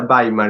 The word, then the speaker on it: Weimar: Weimar se escribe, pronuncia Baimar en alemán.